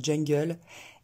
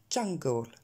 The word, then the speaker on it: jungle: Vous avez tendance à la prononcer E cette fois, fun, enfin un espèce de E bizarre, fun, jungle, et ça n'est pas ça. Ça sera fun, jungle.